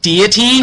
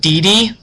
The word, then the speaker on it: deity: my little sister Sarah it is pronounced deity I told her call not de um a deity is